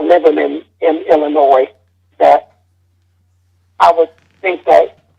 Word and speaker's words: Illinois: It's not Illinois. It's Illinois. Right? No, it's not. No, the S is silent, man. Illinois.